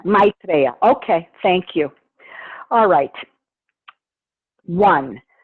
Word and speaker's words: Maitreya: Duras talks with me how would we pronounce it Maitreya or is it meet Raya know my reality my drea yeah Maitreya okay thank you alright